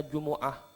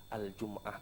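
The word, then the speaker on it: جمعة: Tapi kada boleh dibaca kada boleh bacanya jumu'ah atau juma'ah atau jumi'ah, harus al-jum'ah kalau misalnya yang dimaksud dengan semingguan. Terus وسميت بذلك لاجتماع الناس لها itu ijtima, itu hamzahnya hamzah wasal.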